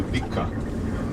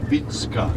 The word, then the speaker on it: Vicka: the visionary vitska vitska many americans will say vikka it's v-i-c-k-a that's how we you know spell it and pronouncing is vitska there's church to you